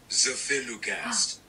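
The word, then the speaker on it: zafirlukast: Zephylukast.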